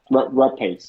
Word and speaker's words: Rapace: Rapace. Pace, right? Oh, whatever her name is. R A Oh, R A right. P A Yeah, there C you go. Mix Rapace.